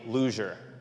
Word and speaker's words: luger: Anyways, as you have just heard, I am a luger, where the pronunciation of the G is critical, luger. So as not to be confused with a lack of better term, someone who always makes bad choices.